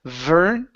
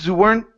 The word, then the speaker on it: weren't: Instead of v, it would be oo.